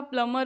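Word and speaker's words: plumber: फिर आपका प्लमर होता है तो उसमें बी साइलेंट होता है।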